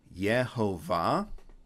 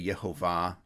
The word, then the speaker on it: Jehovah: So this first one is where Jehovah comes from, because you would say Yehovah, or in classical Hebrew pronunciation, you'd say Yehovah, that Vav was originally a W.